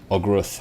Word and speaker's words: Ogruth: He was, with a 15, you wouldn't know too much about him per se, but like you know that Ogruth, which is spelled OghrUth, is kind of the lead suspect in kind of the public's mind.